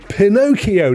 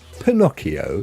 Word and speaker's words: Pinocchio: story comes from Italy if you go to Google and you say pronounce Pinocchio in Italian this is how it sounds Pinocchio not Pinocchio right it